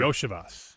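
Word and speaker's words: Iosivas: Yoshas, I think is how Yoshas.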